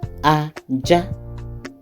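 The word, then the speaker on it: ajá: Because the marks on this word is re mi, aja, dog.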